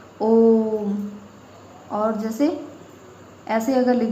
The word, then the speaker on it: ओम: जैसे आपने देखा होगा, लिखते हैं ओम, क्योंकि जब उच्चारण करते हैं ओम का तो इसमें ह्रस्व से ज़्यादा टाइम लगता है, ओम।